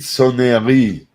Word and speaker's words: sonnerie: Grande et petite sonnerie. Yeah, No, I'm not just good at that. sonnerie. I just know minute Sonnerie. repeater. You don't pronounce the E, actually.